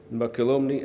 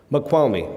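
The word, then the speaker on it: Mokelumne: And so if you look at the supplies of water, and you'll forgive my pronunciation of these rivers, Makalomni, how do you say that? The what? Makwalmi, okay, and that must be Tuolmini, by abstraction.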